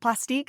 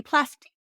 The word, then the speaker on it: Plastiq: pla PL is it plastique is that how they pronounce it either way it's p l a s t IQ I believe so sounds French so it should be plastic yeah so that is